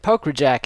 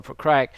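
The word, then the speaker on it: Pokrajac: never can say it poker Jack is how I would say his name but I believe it's Igor proc against Vinnie mahag mahag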